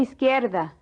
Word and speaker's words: izquierda: Doble a la izquierda. The Z is pronounced like an S.